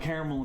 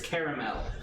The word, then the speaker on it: caramel: a dark side but the correct pronunciation of the word is caramel caramel is also correct but there are three syllables in the word so don't sit on it I need a plate